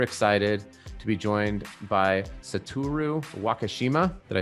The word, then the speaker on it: Satoru: So I am super excited to be joined by Satoru Wakeshima. Did I say that correctly? Satoru, yeah. Satoru, sorry.